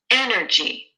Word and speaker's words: energy: Energy, energy, energy. Which syllable is longer, stronger, higher pitched, and louder? Energy, perfect, 100% at A, and that's what it is.